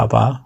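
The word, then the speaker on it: Abba: 즉 아버지 란 말이 헬라 말로 앞 합니다 아바 아바 v3 할말 아바 아버지 인데 아빠가 좀 강하게 발음하면 아빠가 됩니다 하나님을 향하여 아버지라는 고별 할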